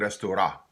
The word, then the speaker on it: restaurant: becomes just ah so some folks might pronounce that restaurant restaurant we restore ah okay for example a chain news art where I'm from we say restore ah more often and my